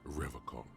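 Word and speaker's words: Revachol: locks at his feet he pronounces revon with a hard K unlike other people serious question time this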